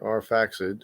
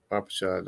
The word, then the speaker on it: Arpachshad: Arpachshad is the oldest son of Shem, or Arphaxad, or Arpachshad. I think Arpachshad is a more original pronunciation, so I say Arpachshad.